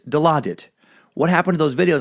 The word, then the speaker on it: Dilaudid: You pronounced it as Dilaudid. It's Dilaudid.